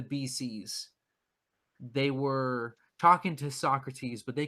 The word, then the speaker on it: Socrates: a different name they call them Socrates okay so great that's actually the correct pronunciation we've got it wrong for this whole time it's so crates exactly and that's what